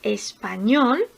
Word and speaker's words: español: Por ejemplo, en la palabra español tenemos tres sílabas. Español. Las dos primeras, espa, son las sílabas átonas, porque son las que suenan más débil. Ñol es la sílaba tónica, es la sílaba más fuerte.